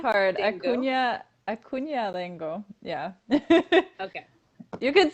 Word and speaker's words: Acuna-Dengo: Acuna-Dengo.